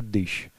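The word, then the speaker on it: když: Ну, например, «гдищ» – «когда» или «если», просто «дыщ». «Вждицки» – всегда «дицки».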